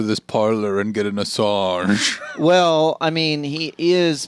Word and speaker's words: Assange: Is it Assange? Julian Assange? Yeah. It's like That's how all the reporters do it. Assange. it's like I'm going to go to this parlor and get an Assange.